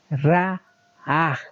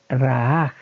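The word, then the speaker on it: ראה: Génesis 9:22, la palabra hebrea para decir vio, es esta palabra que se pronuncia así, Ra'aj.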